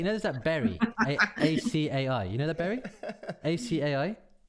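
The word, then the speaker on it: açaí: aca berry so i found out later it's pronounced uh acai i imagine that you're all over that heather it's a very american thing isn't it oh acai berry i've been calling it ak berry he's been like i've been doing that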